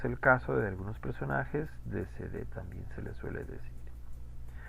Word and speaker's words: décédé: Y tenemos la E con acento que sí se pronuncia, décédé.